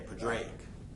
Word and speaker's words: Padraic: okay, Padraic is the proper pronunciation.